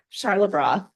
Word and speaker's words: Charlebois: Charlotte Broth.